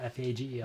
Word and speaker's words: Fagel: Fagel, F-A-G-E-L. You better pronounce this right.